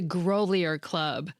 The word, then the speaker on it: Grolier Club: I had only ever read the name of the fancy private library in New York that I love. I'd never heard it pronounced out loud. It's the Grolier Club.